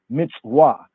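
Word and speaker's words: מצווה: European mother tongue but remember Hebrew is an afro-semitic afro Semitic language therefore the more proper pronunciation and ancient is Mitzvah mitzwa right so what does the word Mitsuwa Mitsuwa mean the basic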